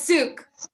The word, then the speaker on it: Sook: It's Suki, right? How you pronounce it? No, it's Sook. Sook.